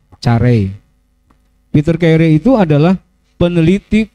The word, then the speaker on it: Carey: Bacanya Carey ya, Carey.